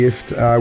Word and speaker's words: Ifft: Jim Jeffries and Eddie Ifft. And we've decided that we've talked Eddie into making his name second because it rhymes with shit.